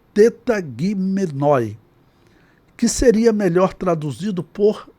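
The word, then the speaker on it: τεταγμένοι: E como se pronuncia essa palavra transliterado, ou seja, com os sons do nosso alfabeto. Então é tetagimenoi, que seria melhor traduzido por dispostos.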